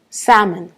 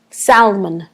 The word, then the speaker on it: salmon: mot comme ça sal salmon ok mais à mon avis et y a des avis de beaucoup de monde c'est un peu bizarre parce que on prononce pas vraiment le l mais à mon avis